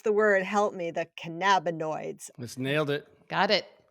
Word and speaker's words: cannabinoids: So walking boosts your positive hormones, your endorphins, your serotonin, your dopamine, your I can never pronounce the word, help me, the cannabinoids.